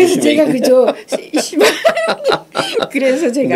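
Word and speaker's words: Seba: 이 그 왜 이 쉐바 고수가 그 이 사람이 그죠? 네. 내가 웃은 게 이 사람 이름이 실제로는 미국에서는 시바라고 해요. 아 그래요? 뭐 한국에서 참 발음이 그래서 제가 그죠? 시바 그래서 제가 네.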